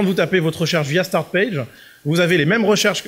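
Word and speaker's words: Startpage: euh donc ça c'est s'écrit comme ça se prononce start page c'est pour les pour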